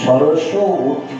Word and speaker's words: সরস্বতী: সেই জন্য সরস্বতী হচ্ছে আমাদের বৈদিক যে সরস্বতী, উচ্চারণটা হবে সরস্বতী। সরস মানে রসযুক্ত, যিনি রসযুক্ত, যিনি রসময়ী, তিনি হচ্ছেন সরস্বতী।